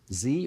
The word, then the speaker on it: Z: Gen Z or Z, depending on how you want to pronounce it, mid-teens to 24.